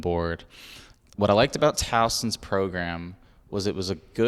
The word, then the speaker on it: Towson: Towson, am I pronouncing that right? Yes, Towson University.